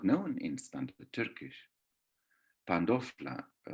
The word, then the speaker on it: pandofla: Pandofla, it's the nd in the Cypriot Turkish, shows us that the word goes through the pronunciation of Cypriot Greek. It's not pantofla, but pandofla.